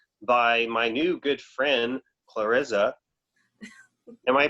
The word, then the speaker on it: Klariza: It's pronounced Clarissa, but I'm sure that there are many pronunciations of the name.